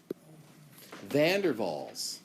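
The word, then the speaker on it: van der Waals: intermolecular forces Okay so Vander Falls that's how that's pronounced I know it doesn't look like it vand deral forces okay oh sorry I did it with a W it's a v uh that's all dipole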